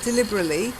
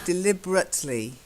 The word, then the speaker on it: deliberately: Not deliberately, deliberately. You've still got to have the T.